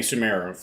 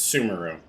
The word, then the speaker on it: Sumeru: updates in in summer I'm not saying sumero that it's sumeru I mean you could